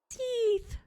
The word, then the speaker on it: Seath: If you want to call him Seth, then go ahead. No, but now I know it's Seath. Seath. I like Seath.